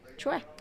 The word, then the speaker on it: Choi: But Choi Young-hee, I know that Choi, it's actually pronounced in Korean Choi. Choi.